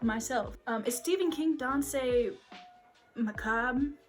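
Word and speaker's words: Danse Macabre: um is stephen king don say macabre i think that's how you say this it's pronounced dance macabre um i took french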